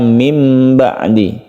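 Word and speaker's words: مِنْ بَعْدِ: Iklab artinya membalik huruf nun ini berubah menjadi huruf mim sehingga membacanya mim ba'di.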